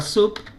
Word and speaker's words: Sub: Entonces yo solamente escribo la palabra sub o SAP. Se pronuncia SAP en inglés, pero se escribe en sub.